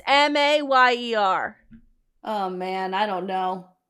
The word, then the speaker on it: Mayer: And my whole life, I swear that it was my baloney has a second name. It's Meyer, but it's Mayer.